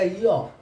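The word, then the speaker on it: ё: इसके बाद आएगा यो, ये हुआ, ये यो में क्या हो जाता है, इसके दो ऊपर हम डॉट देते हैं, ई के ऊपर डॉट, ये क्या लाएगा यो, ये सातवां हो गया हमारा यो।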